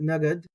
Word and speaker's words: נגד: If you think about it, nagad, it sounds like the word a little bit like naked.